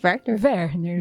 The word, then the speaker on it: Werner: deputada estadual por São Paulo, Andréia, Werner, a pronúncia, Adra, tá certo? É Werner?